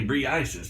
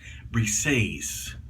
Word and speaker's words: Briseis: how do you pronounce that b-r-e-i-s-i-f that is pronounced I would say Brie Isis but that's not what that that's not how they pronounce it they pronounce it brises brick says that's a Greek goddess which says